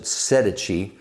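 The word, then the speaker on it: Sedici: correct me my italian-speaking friends but uh they pronounce it sedechi these are the cycle gear brand and very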